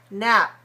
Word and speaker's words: nap: If I release it, it looks like this. Nap. Nap. But we don't need to put the p at the end of it. We only need to put the lips together to close it.